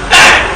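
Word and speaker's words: heir: It is spelled air, then pronounced air.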